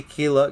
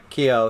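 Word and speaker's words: Keough: florida yeah and riley kilo kilo and i'm i think i'm saying her name wrong kio sorry i added an l there she is stunning i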